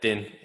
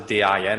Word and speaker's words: Din: Yeah, Din. It's actually D-I-N, isn't it? Yeah, but you pronounce it Dean, don't you?